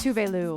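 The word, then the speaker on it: Tove: called Habits by tuu which looks like too but it's pronounced tuu and yes she does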